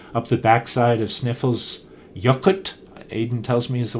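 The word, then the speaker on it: Snæfellsjökull: the f570 road up the back side of sniffle's yacht aiden tells me is the way to pronounce it the volcano that and which has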